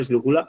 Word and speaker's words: esdrújula: Ya habíamos dicho que la palabra esdrújula es esdrújula, ¿no? Lleva tilde en la antepenúltima sílaba.